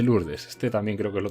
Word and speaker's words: Lourdes: que se escribe Lourdes, pero se dice Lourdes.